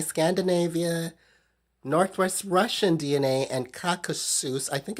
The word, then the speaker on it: Caucasus: It came back that I have Irish DNA, Great British DNA, Scandinavia, Northwest Russian DNA, and Caucasus. I think it's pronounced Caucasus, Cacasus.